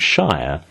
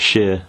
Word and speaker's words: shire: Of course, when I pronounce it at the end of a word, it's always shire, not Shire, and I know that this comes up when Americans try and pronounce Worcestershire sauce.